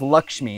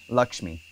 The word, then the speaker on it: Lakshmi: short a same with Lakshmi it's like lucky Lakshmi people say Lakshmi it's incorrect Lakshmi Shanti is a long